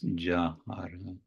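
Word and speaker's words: যাহার: But typically that so-called Y in the beginning of the word is pronounced as the English ja. So it's jāhāra.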